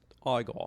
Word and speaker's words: Igor: As Igor? Igor. It's pronounced Igor.